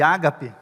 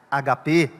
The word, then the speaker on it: ágape: amor, que a gente chama de ágape, agape, conforme a pronúncia que você queira, né? A gente geralmente fala mais ágape, é mais bonito, parece que a acentuação cai melhor.